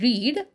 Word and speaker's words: read: Okay, because see in this word READ, read, the pronunciation differs, but the spelling remains same. So in the first, she read the telegram. I'm pronouncing it as read because it is in the past tense.